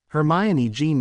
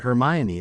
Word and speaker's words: Hermione: was a stupid article they even got her name wrong Herm e jeene Granger that shite about Hermione and me was just